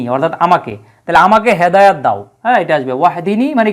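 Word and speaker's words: وَاهْدِنِي: বাক্যের শুরুতে থাকার কারণে আর বাক্যের মাঝখানে থাকলে ইম্পারেটিভ ফর্মুলার হামজাতুল ওয়াসাল যদি থাকে তাহলে উচ্চারণ করতে হয় না সরাসরি অন্য শব্দের সাথে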